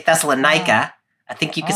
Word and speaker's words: Thessalonica: Amy, I just said the name of the city as Thessalon.